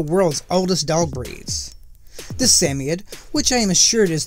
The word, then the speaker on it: Samoyed: The Samoyed, which I am assured is the correct pronunciation by Yeti's Place, although not the only